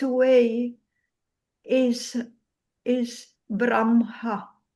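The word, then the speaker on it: ब्रह्म: So they are very very um insisting that we pronounce correctly and the right way is braha.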